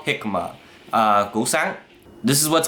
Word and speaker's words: jicama: And this is Jicama, spelled like Jicama but called Jicama.